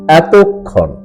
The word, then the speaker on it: এতক্ষণ: সঠিক এবং শুদ্ধ উচ্চারণ হলো এতক্ষণ ট এর সাথে অকারন্ত উচ্চারণ এতক্ষণ এবারে 49 নাম্বার মূল